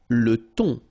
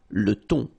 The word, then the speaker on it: le thon: Le thon. Remember, H here is not pronounced. Le thon.